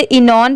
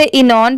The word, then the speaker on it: xenon: अब बहुत सारे लोगों को इसमें कंफ्यूजन होता है, तो इसे इनॉन पढ़ेंगे। यहाँ पर X लेटर साइलेंट है, लिखते टाइम लिखेंगे, पढ़ते टाइम साइलेंट है, तो इनॉन पढ़ेंगे। ये है येलो, YELLOW, येलो।